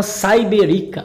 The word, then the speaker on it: Cyberika: game não briguem me se chama siberica ou Cyber fica mais ou menos assim a pronúncia do game o nome já